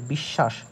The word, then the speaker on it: বিশ্বাস: দেখলাম সে উদাহরণটা যে বিশ্বাস এই যে বিশ্বাসের বিশ্বাস এই যে শ্বাস এই যে দন্তস্য টা এই দন্তস্য টা কিন্তু তালব্যস এর মতো উচ্চারণ হচ্ছে আর এখানে তালবসটা দন্তস